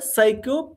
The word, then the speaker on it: psycho: right and here again you can say psycho it's like psycho here psycho p is silent as you know psycho